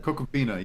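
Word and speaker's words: Ko'koomfena: Could you tell me the pronunciation of that? Cocoabina.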